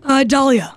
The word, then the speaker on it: Dahlia: Or is it Dahlia? How shall I say it? I know it's spelled help like her the out. flower, right? Yeah. Oh, is it Dahlia or Dahlia? Dahlia.